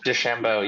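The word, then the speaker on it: DeChambeau: his name because it's kind of weird to pronounce but uh he Bryson D Shambo oh de chambo yeah he's kind of older now but especially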